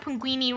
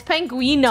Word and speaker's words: Penguino: Hi, you're not even pronouncing Chef Penguini right anymore. Whatever. Yeah, it's Penguino. Taking Chef Penguino back to Whatever, the boat.